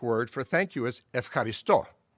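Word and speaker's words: ευχαριστώ: for thank you is ef caristo the modern greek pronunciation of the verb eucharisto there's a relationship but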